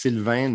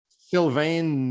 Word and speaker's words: Sylvain: So my name is sort of supposed to be pronounced Sylvain Neuvel, but no one does that. And when they try, it's usually worse. So That's I've why I gotten didn't used try. to Sylvain Neuvel.